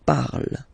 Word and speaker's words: parle: And then the way to pronounce it is je parle, parle. So remember, we put it, okay, but then we don't really pronounce it.